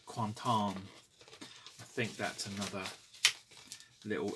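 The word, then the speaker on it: Quentin: the one that's there film by quanton theur apparently that's how you pronounce Quinton quanton I think that's another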